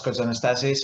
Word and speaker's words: Kotzanastassis: My name is Kotzanastassis, as Martin very correctly pronounced.